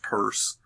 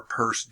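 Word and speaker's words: Peirce: first espoused by a fellow named Charles Sanders purse this what is pronounced purse it's spelling out there's not Pierce in mid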